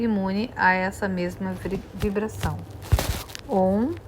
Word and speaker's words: Om: Om escreve-se corretamente com 3 letras. A primeira significa Brahman, a segunda Vishnu, e a terceira, que se deve pronunciar como um Hum, levemente alongado, Shiva. O tríplice Om é, por esse motivo,